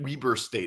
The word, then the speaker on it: Weber: Weber Weber State is actually how it's pronounced.